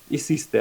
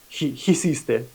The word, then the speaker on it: hiciste: Кстати, не забывайте, что исисте, оно первая буква аче, и оно не читается, поэтому исисте, а не хисисте.